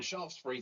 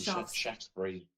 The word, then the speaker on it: Shaftesbury: Well, Shaftesbury to me, because I'm from the south, but I imagine Shaftesbury. I guess it depends who's pronouncing it, isn't it?